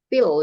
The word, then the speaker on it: Phil: Jadi Phil ya bacanya. Kalau P ketemu H bacanya F.